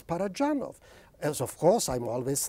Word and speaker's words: Parajanov: I make no claims it is not dj it is d z par it's not Serio